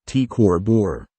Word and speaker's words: T CrB: is T cor Borealis TCB pronounced T cor bore it lies in the